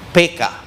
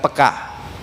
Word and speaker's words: peka: Dalam bahasa Indonesia sebetulnya pengucapannya yang benar gaya orang Batak, PK, bukan peka.